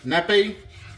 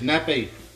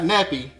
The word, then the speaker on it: nappe: And when I tell nappe, when you do a sauce, the consistency you want is nappe. Not nappy, but nappe. Okay. All right. And what I mean by nappe is, you should be